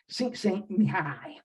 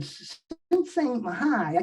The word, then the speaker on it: Csikszentmihalyi: I think it's pronounced Csikszentmihalyi.